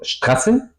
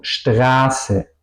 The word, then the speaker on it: Straße: Aquí tenemos el efecto que la vocal antes, no digo Straße, digo Straße.